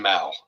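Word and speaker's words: Mow: It's pronounced mau.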